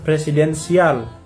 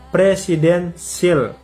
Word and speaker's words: presidensial: mempertegas sistem pemerintahan presidensial bukan presidensial ya bacanya presidensil ya Apa itu presidensial Hai